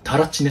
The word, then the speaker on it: たらちね: ていうんですか、タラチネって書いてあるんですよ。